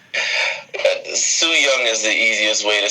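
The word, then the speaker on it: Su Yung: It's Sue Young is the easiest way to say her name.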